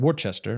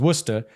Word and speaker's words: Worcester: he was from Worcester which I thought was called Worchester right everyone thinks that yeah yeah yeah well because it's how it's spelled but it's Worcester and listen he was